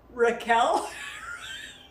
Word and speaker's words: Raquel: you a joke Rachel my family actually pronounces my name Raquel thank you okay Rachel